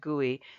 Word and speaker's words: GUI: Now, guey, which is GUI, the acronym GUI, we pronounce it guey, stands for graphical user interface.